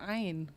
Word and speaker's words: 'ain: Memang bacanya harusnya ain.